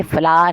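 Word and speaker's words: flour: अच्छा, इसका प्रोनाउंसिएशन याद रखिएगा, ये फ्लावर है, फ्लावर नहीं है। फ्लावर जो होता है वो फूल होता है और ये फ्लावर है, ठीक है।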